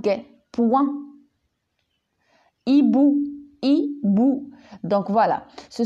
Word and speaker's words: points: lui est jeudi outils points je dis pas pointe des points ibou hibou donc voilà ce sont des mots